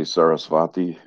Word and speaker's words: Sarasvati: the tibetans don't can't really say the v sound so uh they they don't see sarasvati and i tend to say it the way they've said it which is with with the b being pronounced more like a w or an o and so this uh